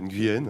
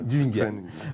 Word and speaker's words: Nguyen: Avec nous, Nguyen. Je ne sais pas si je prononce bien votre nom. Oui, Nguyen. Nguyen.